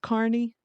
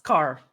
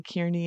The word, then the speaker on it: Carney: Is his name pronounced Carney? Yes. Car like C A R. Yeah. Carney. Yeah. Yeah. I've never I've never I mean I hear people say it, but then I hear people say Kierney and I'm like is